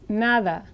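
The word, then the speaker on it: nada: probably already familiar with this word in Spanish is pronounced naada the d in Spanish is most similar to the T th sound in brother and this so in my pronunciation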